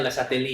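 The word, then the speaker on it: Le Chatelier: Perubahan ada tapi pakai tangan kecil ya kan kalian belajar asas le lesateli kan ya belajar enggak tulisannya leatelier bacanya lesateli ya nah lesateli itu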